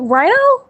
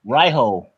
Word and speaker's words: Riho: You said wait, Rhino? No, Raiho. It's Raiho. R-I-H-O.